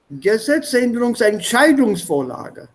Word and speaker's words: Gesetzänderungsentscheidungsvorlage: Gesetzänderungsentscheidungsvorlage. Entscheidungs. Well done. That's correct. So in the last one, the stress is here.